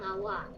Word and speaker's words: awak: Saya sayang awak. Saya sayang awak. Young awak. And this is Malay. Now it's Sai. Yeah. Sai. Ong. Awak. It's very strange to see a K be a silent letter.